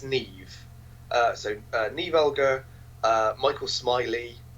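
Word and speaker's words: Niamh: So, Censor, directed by Prano Bailey Bond, starring now, I think it's Neve Alger, because it's one of those Irish names that's spelt not how you pronounce it. Yep. I think it's Neve.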